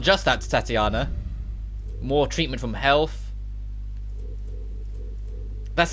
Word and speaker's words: Tatiana: It's Tatiana, it's not Titania.